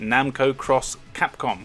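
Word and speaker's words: Namco × Capcom: might want to investigate Namco cross Capcom which apparently is how you pronounce it a really cool RPG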